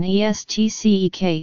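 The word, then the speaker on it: est-ce que: The French proposition estcek is also used in Bambara, however, it is pronounced more slowly and as three syllables.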